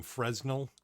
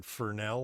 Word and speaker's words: Fresnel: I I believe because I pronounced it wrong in a video I call them fresnel because it's exactly how they're spelled right it looks like it's that's what how you spell but it's forel or something I guess they pronounce it fernell or something like that like I